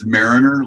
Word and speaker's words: Mariner: Everyone pronounces Mariner. It's Mariner, like Mariner.